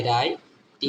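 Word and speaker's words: write: ডব্লিউ এর উচ্চারণটা হবে না ডব্লিউ আর আই হচ্ছে রাই আর আই রাই টি এর উচ্চারণ ট এর মত লাস্টে এর উচ্চারণ হয় না মনে রাখবেন ওয়ার্ডের লাস্টে ম্যাক্সিমাম ওয়ার্ডের ক্ষেত্রে লাস্টে ইউ এর উচ্চারণ হয় না রাইট ডব্লিউ আর আই টি রাইট আবার লিখি রং দেখেন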